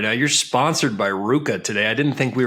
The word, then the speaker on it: RVCA: I mean, I got so many Ruka hats, and for the longest time, I thought it was Rivka and RVCA, and I didn't even know how to pronounce it until more recently.